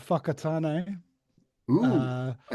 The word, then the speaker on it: Whakatane: Whakatane. We've got a town called Whakatane.